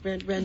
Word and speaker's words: Renuart: It's almost like Renoir, right? Renuart. That's the way my grandmother pronounced it.